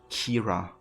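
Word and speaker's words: Ciara: museum for sure she's pronounced Kira really would have thoughts Kiara so yeah I'm just gonna try to say Kira oh something here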